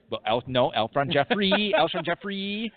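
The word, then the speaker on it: Jeffery: Jeffries? Alshon Jeffrey. Alshon Jeffrey. Only we know how to pronounce Alshon Jeffrey. Yeah. His last name. 2 catches. Not Jeffries, you morons.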